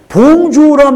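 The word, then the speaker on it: bonjour: 그런데 표현할 때는 봉주흐라고 썼지만 세련되게 보이려면 맨 끝에는 히읗 발음을 거의 안 들리게 해야 돼. 봉주. 근데 프랑스 사람들은 특히 예의 범절을 중요시 여기기 때문에 봉주란 말을 정말 무조건 써야 돼.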